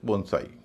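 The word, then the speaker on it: bonsai: इसके अलावा जापानी शब्दों में भी ए आई का उच्चारण आई होता है। जैसे बोनसाई या हाईकु।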